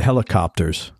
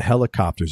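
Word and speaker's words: Hellacopters: cool band called the helicopters it's h e ll a copter so like helicopters and when I interviewed Tommy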